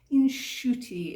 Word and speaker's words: inshuti: Okay, so next up is the word Inshuti. Now, it's a really lovely word to say. Inshuti. It's a little bit like the Irish akushla, you know, it's got that soothing sound to it.